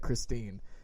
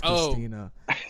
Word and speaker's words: Christina: So, you got her name wrong. You said Christine. It's Christina. My bad.